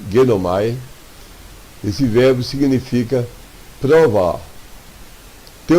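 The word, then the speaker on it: γεύομαι: Em Hebreus 6,4, a frase, havendo provado o gosto, o verbo tem aqui, em grego, se vou dar por escrito, a pronúncia é genomai.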